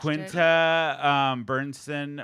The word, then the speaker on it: Quinta Brunson: Quinta Bernson won for Abbott Quinta Brunson, Elementary.